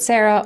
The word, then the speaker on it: Sara: Uh, so yeah, my name is Sarah. You can pronounce it Sarah or Sara.